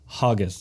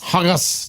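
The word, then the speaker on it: haggis: have some H us which by the way they pronounce hogus hugus did eat the hugus I actually had a waitress laugh out loud this year because you said haggus because I ordered haggus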